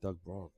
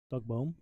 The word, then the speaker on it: Doug Bohm: throws a lot like Doug Braun. Who? Doug Bohm. Doug Bohm, sorry. His literal dart nickname is No Name. It rhymes with that.